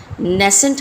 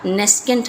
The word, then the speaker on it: nascent: Same उसी तरीके से नेसेंट हाइड्रोजन या नेस्केंट हाइड्रोजन होती है। दोनों ही आप इसको प्रोनाउंस कर सकते हैं, नेसेंट एंड नेस्केंट दोनों ही ठीक हैं।